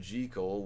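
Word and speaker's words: Jekyll: Jackekal and Mr. Hyde is different. They pronounce it G-Cole, which is the way that Robert Lewis Stevenson pronounced it.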